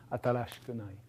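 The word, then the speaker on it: 新しくない: negative form um and it ends up putting this vowel between voiceless between voiceless sounds. And then yes, it devoices. So it goes from atarashii to uh atarashikunai atarashikunai.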